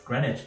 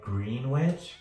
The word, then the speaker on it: Greenwich: Another park that I really enjoyed was Greenwich Park. It's spelled like Greenwich, but it's pronounced Greenwich.